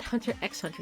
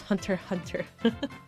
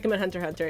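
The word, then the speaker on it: Hunter × Hunter: Hunter Hunter uh not Hunter x Hunter you don't pronounce the X it's hunter hunter from what I for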